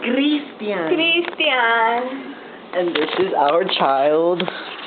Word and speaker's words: Christian: It's pronounced Christian. Christian.